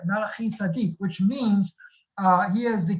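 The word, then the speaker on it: מלכי־צדק: And Melchizedek, literally the word is Melachi Tzadik, is how you say it, Melachi Tzadik, which means he is the king of righteousness, all right?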